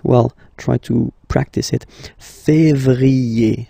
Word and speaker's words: février: yé, janvier, then comes février, février, okay, remember when you have this accent aigu on the top of then you pronounce it E, okay?